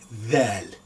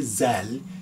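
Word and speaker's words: ذال: you pronounce it is you have your tongue trap and forward they you pronounce Valley like that one that very that one as letter then don't say Zell is that Val the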